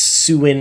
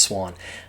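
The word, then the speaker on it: Siuan: mispronouncing her name it's suin or when it's swan it's pronounced swan whether you like it or not that's that's how it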